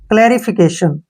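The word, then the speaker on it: clarification: ठीक है ना और टी आई ओ को हम क्या पढ़ते है श और एन से न फिकेशन ठीक है ना फिकेशन क्लेरिफिकेशन क्लेरिफिकेशन का मतलब होता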